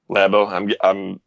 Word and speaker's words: Labo: as long last week lab oh I'm guessing it is pronounced lab oh not labo or labo and well labels like it's too close to labia right and I guess